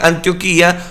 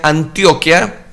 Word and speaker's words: Antioquía: la iglesia de antioquía hay algunas personas que leen antioquía pronuncia sería más bien antioquía otros pronuncian antioquia de hecho los colombianos pronuncian mucho la palabra antioquia yo me voy a referir precisamente a antioquía el libro de los